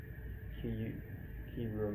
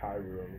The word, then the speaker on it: Kyurem: Um, actually, no, it is Kyurem, not Kyurem, because it's spelled not Kai, Kyurem. So it's Kai Kyurem, Kyurem. Yeah, like Kyubi or Kyrie.